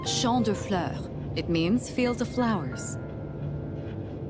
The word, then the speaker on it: Champs de Fleurs: Champs de fleurs? How do you say that? It's Champ de Fleurs.